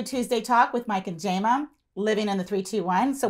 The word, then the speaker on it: Jama: Talk with Mike and Jama, living in the 321. So we're really excited. Wait. What? Why is it I know you as Jamie, but you are saying Jama? Jama, yeah, say it right.